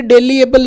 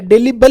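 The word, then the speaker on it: delible: ये डेलीएबल नहीं है, डेलीबल ही है, डेलीबले, डेलीबले, डेलीबले, डेलीबले, डेलीबले, डेली, DELI, डेलीबले, BLE, डेलीबले, डेलीबले, याद रह जाएगा डेलीबले आपको।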